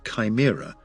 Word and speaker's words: CHIMRA: CHIMRA, pronounced Chimera, after the multi-headed creature of Greek mythology, which stands for the Collection and Handling for In Situ Martian Rock Analysis Tool.